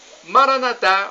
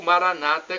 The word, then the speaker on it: Maranata: Jesus para o português Maranata ou Maranata como dizem nossos irmãos evangélicos ou protestantes os católicos dizimar a Natália uma tônica na última sílaba protestantes Maranata com a tônica na penúltima sílaba significa vinde Senhor Jesus